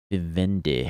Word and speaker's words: Vivendi: Vivendi. I think that's how you pronounce it.